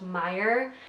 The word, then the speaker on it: Maier: English and Italian so my last name is pronounced mire it's German I was in a